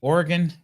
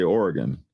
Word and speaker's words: Oregon: You pronounce that state Oregon?